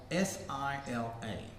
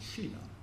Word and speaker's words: Sila: So in Buddhism, that's called S-I-L-A, Sila. Some people pronounce it Shila. Depends, I think, with the Sanskrit or Pali.